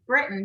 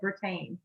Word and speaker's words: Britain: apologize to you guys i mispronounced your last name it's britain but i i said retain oh that we get